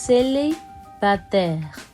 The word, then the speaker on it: célibataire: You pronounce it célibataire.